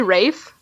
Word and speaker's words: Ralph: Rafe. That's how you say his name. Rafe Fiennes. Rafe Fiennes. Thank you. Okay. Is it really? 'Cause it's spelled Ralph. I know it, but it's pronounced Rafe, Rafe.